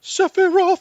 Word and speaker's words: Sephiroth: Sephiroth.